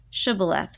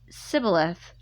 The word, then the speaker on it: shibboleth: would say to him say now shibboleth but he said sybileth for he could not pronounce it correctly then they seized him